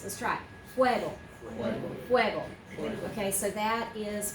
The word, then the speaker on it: fuego: Fuego. Two syllables, only two syllables. Let's try it. Fuego.